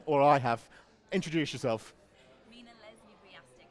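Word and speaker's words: Mina Leslie-Wujastyk: Tell me, we've been getting your name wrong all day, Mina, or I have. Introduce yourself. Mina Leslie Riastic.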